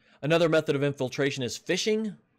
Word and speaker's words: phishing: method of infiltration is phishing pronounced ph are not pronounced but spelled p-h-i-s-h-i-n-g but it's pronounced fishing and it's what you